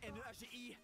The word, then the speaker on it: Nagi: En tout cas moi je sais bien prononcer Nagi. N a g I son nom c'est Nagi.